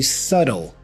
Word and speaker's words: subtle: silent so we say subtle subtle the T here has a flap sound so I go subtle subtle with the L